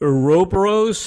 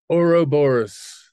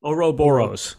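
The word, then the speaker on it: Ouroboros: I'm pronouncing this right is it europaros how do you pronounce that Oro Boris oroboros okay and that's the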